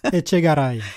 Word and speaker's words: Etchegaray: Etchegaray. Etchegaray, en roulant le R.